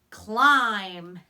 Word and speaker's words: climb: am B climb and what's tricky here is that M B when B is at the end of a word and is joined with the letter M that B is silent he doesn't make a sound so that's the part we have to remember by heart the rest claw I